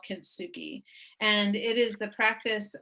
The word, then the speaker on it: kintsugi: How do you pronounce that? Kintsugi?